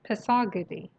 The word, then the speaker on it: پاسارگاد: بعد تلفظ پاسارگاد هست پساگدی. اوکی؟ پاسارگاد پساگدی. بعد کلمه اینو چجوری تلفظ میکنید؟